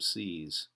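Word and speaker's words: seise: It's pronounced the same, C's.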